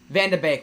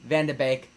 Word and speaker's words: van de Beek: frustrated as ever ah vanda bake my po my apologies i i keep on mispronouncing his donnie vande bake thank you for correcting me sarenin and yeah um